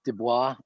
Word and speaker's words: Du Bois: to over and over his name looks like it's dubois but it's w.e.b du bois is how oh that's